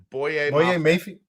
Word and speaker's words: Boye Mafe: Boye Mafe. We're pronouncing every letter of that name.